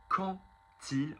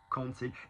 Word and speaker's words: quand il: So quand il, when it, notice pronouncing it as a T, quand il, it is not the word quand ta, Q-U-A-N-T, which actually also similarly means as for.